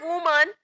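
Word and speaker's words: women: इसको बोलते हैं वुमन और इसको बोलते हैं विमेन, ठीक है? इसका प्रोनाउंसिएशन कुछ ऐसा होता है। बहुत सारे बोलते हैं वुमेन या वुमेन या जो भी आप लोग बोलते हो वो सब गलत होता है।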